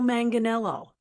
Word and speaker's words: Manganiello: Today's pronunciation guide is for actor Joe Manganelo, a name that looks intimidating but is actually pretty easy once you break it down.